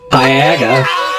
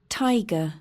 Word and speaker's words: Taiga: Taiga." Because apparently, A, I'm saying it wrong. Tiger.